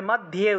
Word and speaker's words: মধ্যে: त्रिशूलेन ভ্রুবুর, ভ্রুবুর মধ্যে, এখানে ম ধ জফলা ছিল আর রস্বইকার ছিল, তাহলে মধ্যে উচ্চারণ হবে, জফলা থাকায় ইয় উচ্চারণটা আসবে, তাহলে মধ্যে, ভ্রুবুর মধ্যে